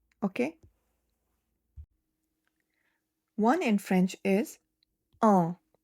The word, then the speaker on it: un: One in French is uh notice the sound of N is nasal. Your tongue is not touching the pallet. When you say, it is coming from the nose. Normally in English when you have U and N word, you will say an un an. When you say an, your tongue is touching your pallet. But in French, you keep the Nasal.